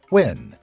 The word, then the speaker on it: Nguyen: Nguyen, pronounced Nguyen, is the most common last name in Vietnam.